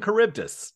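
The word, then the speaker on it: Charybdis: took Latin in school it's Sila and caribdis there you go that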